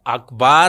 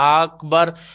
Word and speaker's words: اکبر: بہت زیادہ ضروری ہے۔ اکبار بھی نہیں کہنا، اکبر۔ اچھا، یہ بھی کرتے